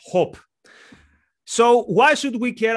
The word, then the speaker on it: Hoppe: Today we will be discussing the German philosopher Hans-Hermann Hoppe, or properly pronounced Hoppe.